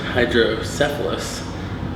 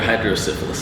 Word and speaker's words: hydrocephalus: The disease is pronounced hydrocephalus, and it's like fluid in the brain or whatever, but I may have called her hydrosyphilis all day.